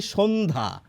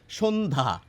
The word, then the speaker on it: সন্ধ্যা: কি বলছি বলুন তো আমরা লিখছি দন্তস বলছি তালব্য স কিরকম দন্তস এর উচ্চারণ